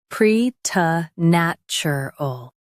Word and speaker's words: preternatural: Pre, nat, chur, ul, preternatural, pre, t, nat, chur, ul, preternatural. Stress nat and keep ter soft.